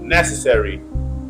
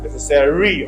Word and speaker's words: necessary: s on S and if you put stress on four syllable necessary necessary on but the correct is first syllable necessary again people say necessary